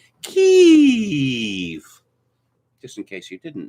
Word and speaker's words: Kyiv: We know that it is pronounced Kyiv, just in case you didn't know.